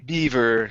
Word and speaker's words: beaver: last one here um instead of justin bieber bieber okay beef beaver okay so the beaver the